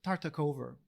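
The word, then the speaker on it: Tartakower: and tartakover you know i always pronounce his name tata gover tartakover with a v sound in france and in germany that's how they pronounce it not really sure how it's done in english um decided to transpose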